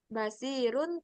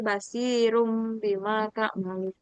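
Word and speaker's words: بَصِيرٌ بِمَا: Jadi Ba. aturannya bacanya basirun tapi karena dia hukumnya ikrab, kita bacanya basirum bima ta'malun. Nggak baca basirun ya, tapi basirum bima ta'malun.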